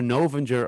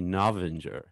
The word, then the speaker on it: Novinger: i was like well it's either novenger or novenger and then it's it's actually navinger so i was i